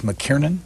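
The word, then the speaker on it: Mackiernan: Do you pronounce it Douglas McKiernan? McKiernan, exactly right.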